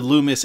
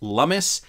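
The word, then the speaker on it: Lummis: is how he responded about the uh the loomis gillibrand bill which uh now i'm realizing is pronounced lummus and gillibrand anyway listen to gary gensler here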